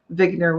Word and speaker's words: Wigner: balls or spheres um vigner would be the way Eugene vigner would have pronounced it and basically he was